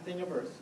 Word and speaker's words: Thingiverse: Yeah, Thingiverse. Spell it. Thing, like universe, only Thingiverse.